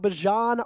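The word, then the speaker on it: Bijan: Let's talk about Bjan Robinson.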